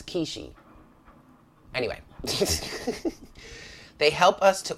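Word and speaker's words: Quishy: ascended aspect of Saturn kishi is spelled qu I SH Y so is it is it qui she no it's key she anyway they help us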